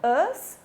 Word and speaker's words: us: Us, relativo ao we, você pode ouvir a palavra us ou vai também ouvir pronunciado quase como um a, us. As duas formas estão certas, tá?